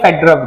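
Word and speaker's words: Fedorov: यहां Russian names में क्या रहता है कि ये जो लास्ट वाला वी है ये प्रोनाउंस होता है फ की तरह।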